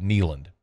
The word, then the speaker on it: Kneeland: those who are interested neand like a knee like your knee K NE e l a n d uh just another play